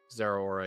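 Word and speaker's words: Zeraora: It's pronounced like two words? Zera Aura, yeah.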